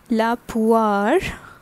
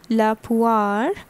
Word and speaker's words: la poire: Next is la poire, la poire. So this O-I sounds like ua, alright? So this is femina, accordingly la is used, la poire, and this is what?